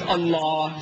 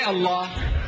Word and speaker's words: Allah: so I said look a l a h is Allah say Allah you cry and you say I said no don't cry again you say Allah I say not Allah